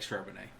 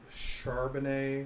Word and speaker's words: Charbonnet: If anybody wants to give me 5-1 odds that Charbonnet, is that how you say it? Charbonnet? Yeah, Charbonnet. Charbonnet has more yards than Gibbs or Robinson, I'll bet them $1,000.